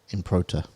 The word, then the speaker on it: Improta: I'm going to Google how to say his name properly because I keep on want to say impromptu, but I think it's improta.